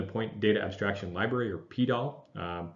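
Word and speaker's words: PDAL: data abstraction library or PTL sometimes pronounced poodle it is a parallel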